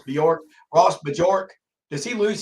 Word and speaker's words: Bjork: but that a m story Jimmy I still think uh no matter what happens and I'm gonna call him Ross majorque because of this instead of pronouncing it correctly Ross Bjork Ross Bjork does he